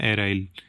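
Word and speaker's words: aryl: देखो vinylic alcohol या एराइल, एलाइल नहीं कह रहा हूँ मैं, एराइल स्पेलिंग लिखी हुई है।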